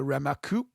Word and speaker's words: Remarque: It's based on the novel by Erich Maria Remarque, I believe is the pronunciation of it.